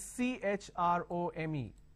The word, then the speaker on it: Chrome: me remove this so when i have ch i say chin cheek chair chair but here i say chemistry chrome you are obviously bound